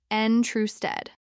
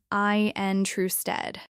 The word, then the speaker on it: interested: Many people pronounce it as 3 syllables, N true stead. Not interested? Some people say it that way, but in natural speech, you often hear I-N true stead.